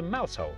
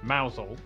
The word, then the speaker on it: Mousehole: head over to rampusham ransom then down to mousehole mouthhole next travel north up to tower sester toaster